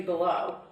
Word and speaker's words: Below: Below, which I've never heard that last name before. Anyway. Sorry, below or it's below? Spelled like below. Like honey, not accent. Below. Okay. Like Five Below, like the store.